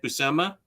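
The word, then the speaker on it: Buscema: 102 but those issues were by Big John busemma so still solid did I say it right busama yeah okay if the 51 is collected in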